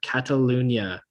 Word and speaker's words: Catalunya: It's the Spanish Grand Prix at the Circuit de Barcelona, Catalunya. That's how you say it.